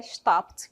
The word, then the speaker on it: stopped: Stopped é a pronúncia stopped com som de T mesmo ali, tá bom?